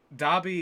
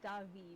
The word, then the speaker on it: Davi: So Dobby, is he named after the elf from Harry Potter? No, it's Davi with a V. Oh. It's almost like Davy, but it's pronounced Davi, I think.